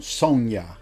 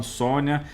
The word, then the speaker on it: Sonja: a pronúncia certa mesmo no filme eles falam Sônia mas eu não consigo